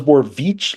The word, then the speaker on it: Borovich: I didn't know it was Borovich, like the hard E in the middle, until midway through the season.